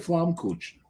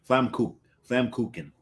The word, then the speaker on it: Flammkuchen: pizza, but was it pizza or was it Flammkuchen? Well, it would have been if they called it Flammkuchen, that would have worked. That would have worked very Actually, well. We're both mispronounced. Flammkuchen.